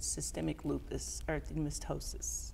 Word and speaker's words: systemic lupus erythematosus: I already had two kids, but I was diagnosed with systemic lupus erythematosus.